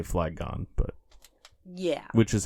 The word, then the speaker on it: Flygon: It's most confusing when the emphasis is on both or neither of the syllables that they're pulling to put together. Sure. Because, like, fly, obviously, has its own emphasis. And then dragon.